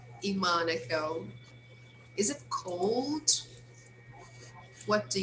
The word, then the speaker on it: Monaco: using uh the word instead of saying monaco which is american english they will say monaco it's also common right so some people have this pronunciation especially people from the area right so let's read